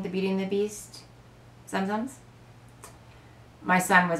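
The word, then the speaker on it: Tsum Tsum: Are they zum-zums? Zoom-zooms? We're not sure what to call them. I believe the T is silent. So for now, I'm going to call them zum-zums.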